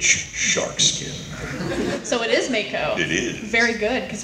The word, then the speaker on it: Mako: So it is Mako.